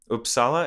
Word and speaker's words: Uppsala: other swedish friends i've heard of uppsala is that how you pronounce it yeah um is that a